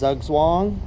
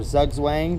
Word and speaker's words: zugzwang: circle with a DOT that is zugzwang or zugang depending on how you pronounce it that's mate or Checkmate